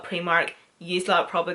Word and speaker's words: Primark: It's just the way us Northern Irish people call Primark. I know it is spelt with an I, we call it Primark, you lot probably call it Primark.